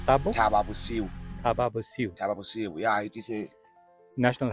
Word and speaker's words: Thaba Bosiu: still We are within district how do you pronounce. this place name Thabo Thabo tahbu bosiu yeah it is a national heritage is a